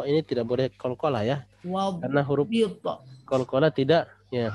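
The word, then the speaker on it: وَاضْبِطْ: wadbit akhirahu akhirahu wadbati wadbit bukan wadbati wadbit. Oh, wadbit. Ya, wadbit. Ya, wadbit. Ya, huruf do ini tidak boleh kolkola ya. Wadbit.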